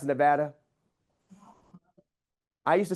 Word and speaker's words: Nevada: You know it's pronounced Nevada. I used to say Nevada because I thought it was beautiful. But somebody from Nevada, the state of Nevada said it's pronounced Nevada.